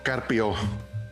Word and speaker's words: Carpio: Welcome to the Kéfi Podcast, Carpio, my dear friend from España.